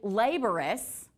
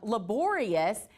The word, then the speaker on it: laborious: So, I say laborous. And some people say laborious. And so either way that you say it, it's fine. Um, laborious is actually the correct way that you pronounce it, but I've always said laborous.